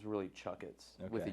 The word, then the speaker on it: Chakits: TS well when you read it it's basically pronounced Chets but when you pronounce it it's really chuck itss with a u so all right but um